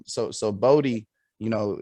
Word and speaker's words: Bodhi: I get called body, I get called, I get called it's everything but Bodhi.